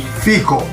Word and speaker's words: fico: Do you say fig the same way in Italian as fig? No, how do you? Fico. Fico. Fico.